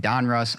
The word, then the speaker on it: Donruss: 2122 Panini Donruss see I said it right Donruss optic fast break basketball here you're going to